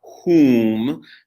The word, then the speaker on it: hum: hum in english it's the exact same spelling as the mantra whom though a slightly different pronunciation because the vowel in the mantra is ooh whoo okay so what are